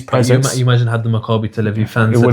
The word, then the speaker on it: Maccabi: Makabi.